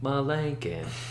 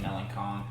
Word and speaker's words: Meloncon: what you had drawn, and that lady on the automated system would pronounce his name, Jeremy Malinkin.